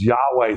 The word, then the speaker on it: Yahweh: So we have to put the vowels in there. So we don't go and pronounce his name with a breath, and we don't go. We say, Yahweh. And that's where people get Yahweh from.